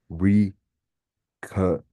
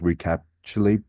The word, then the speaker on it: recapitulate: It would be recapitulate again. Recapitulate. Yeah, it would almost sound like recapulate, but I guess there's more of a C sound.